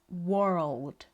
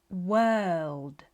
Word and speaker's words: world: However, it's world. The same sound that you have in the words her, term, serve.